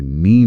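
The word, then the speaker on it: knee: और कुछ क्लासिक उदाहरण तो हैं ही, जैसे नी में K, रोंग में W।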